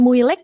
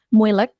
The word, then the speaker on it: moeilijk: Nah, itu jadi bacanya bukan moeilijk, bukan. Moeilijk, makkelijk, sama eigenlijk.